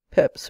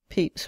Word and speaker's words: Pepys: At present there are three pronunciations in use: Peps, which is the most usual; Pepys, which is the received one at Magdalen College; and Pepys, which I learned from Mr.